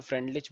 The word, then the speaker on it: Freundlich: तो इसमें डी को भी साइलेंट बोलते हैं, फ्रेंडलिच भी बोलते हैं कुछ लोग। तो तुम पूरा ही बोलो ताकि तुम वहां पे स्पेलिंग मिस्टेक ना करो, तो फ्रेंडलिच बोलना।